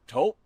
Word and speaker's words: Toop: Or taupe insurance? Maybe? I don't think so. Say it right. That's T-O-O-P. That's taupe. Oh, it's Taupe.